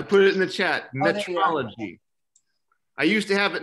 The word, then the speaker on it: metrology: it in the chat metrology i used to have it in my bio but people kept mispronouncing it as meteorology which i don't know